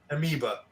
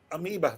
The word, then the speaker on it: Amoeba: was at Amobi records amoeba amiba thank you you always you always help me I always mispronounce it amiba and it's there on